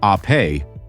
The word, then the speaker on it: Ape: This is the Vespa Ape, pronounced ae, which means bee in Italian, just as Vespa means wasp.